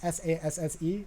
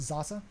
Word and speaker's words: Sasse: Christian Zasse, spelled like Sass, like Ben Sass in the United States, Sasse, but it's pronounced Zasse.